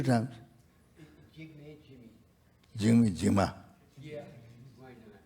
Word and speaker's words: Jigme: Jigme. 2 times. 2 times. Jigma.